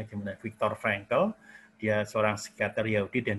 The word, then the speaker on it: Viktor Frankl: Ya, karena pengalaman ini seorang psikiater, dalam pengalaman dia hidup dalam camp-camp itu, dia bernama Viktor Frankl, bacanya gimana? Viktor Frankl.